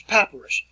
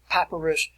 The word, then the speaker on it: papyrus: to write this out p a p y r u s p a p y r u s we call it we pronounce it in english papyrus and if you go